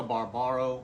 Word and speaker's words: Barbaro: by Will Gluck, starring Monica Barbaro or Barbero. I believe Barbero is the correct correct pronunciation, but my mouth wants to go the other direction.